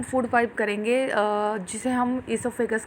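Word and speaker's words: oesophagus: तो बच्चों, ओ साइलेंट होता है, इसको ओसोफेगस कहने की जगह इसको बोलो ईसोफेगस।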